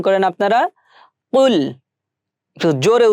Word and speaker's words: قل: কুল, কফ লাম পেশ কুল, এটা কিন্তু আমাদের গলার ভিতর থেকে উচ্চারণ করতে হবে। কুল, অনেকে বলে থাকি কুল, সো এখানে হবে কুল। আমার সাথে একটু উচ্চারণ করেন আপনারা, কুল।